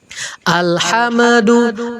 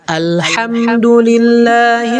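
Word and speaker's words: الحمد لله: Contoh, nih, mim langsung ndak, ya, mim kedak. Alhamdu. Ini nggak boleh ya teman-teman ya. Yang benar adalah Alhamdulillahi rabbil alamin. Jangan sampai kita bacanya alhamdu. Gak boleh.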